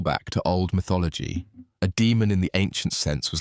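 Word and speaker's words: daemon: Fair warning, boss. It's spelled D A E M O N.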